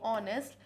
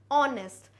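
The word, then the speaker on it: honest: reason यह है कि जो जो वर्ड ऑनेस्ट है एच ओ एन ई एस टी ऑनेस्ट हम इसको रीड कर रहे हैं ऑनेस्ट क्योंकि एच क्या है साइलेंट है एच का साउंड नहीं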